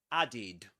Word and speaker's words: added: So that ending the ed ending is pronounced as eid. So you say for example addid added.